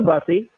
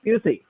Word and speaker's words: Busey: he looks like he got hit with a buzzy it's pronounced Busey so straight up Gary Busey in a pretty